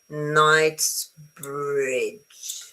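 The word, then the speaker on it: Knightsbridge: So no G H night bridge. Okay. So it's night night bridge. Night bridge. So I don't pronounce the K.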